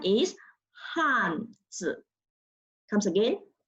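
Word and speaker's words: 汉字: The pronunciation is Hanzi. Comes again, Hanzi.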